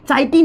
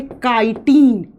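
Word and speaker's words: chitine: अब इसको बच्चे पढ़ेंगे प्रोनाउंस करते हैं चाइनन। साइटन नहीं इसको लिखा जाता है काइटीन।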